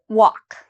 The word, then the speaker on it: walk: the d okay and what about walk walk is there something I'm not pronouncing in this word walk do I pronounce every letter no walk okay so the L if you said the L I'm not pronouncing the L you're correct so in